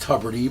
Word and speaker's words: Tubridy: So you're a Tubridy. I'm a Very Tubridy. famous Rockaway family. Yes, it's actually pronounced Tubridy, but I it's, know.